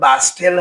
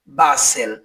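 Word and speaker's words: bustle: বি ইউ এসটি এল ই বাস্টেল। এর উচ্চারণ বাস্টেল হবে না। এর উচ্চারণ হবে বাসেল যার অর্থ হইচয় করা।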